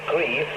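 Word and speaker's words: Greve: and that's 31 stroke dk 2670 and i'll spell that for you it's g-r-e-v-e grieve in denmark okay that's the danish shortwave news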